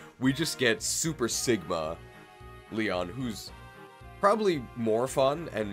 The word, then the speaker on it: Leon: need the you're confused is it pronounced lion or or Li well spell with a yse I think it's lion that's Leon apparently it's Leon Joshua hey we've got